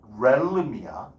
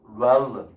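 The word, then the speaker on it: realm: 이거 발음 렐름이야. 렐름. 혓바닥 내밀었다가 집어넣으면서 하면 돼. 렐름.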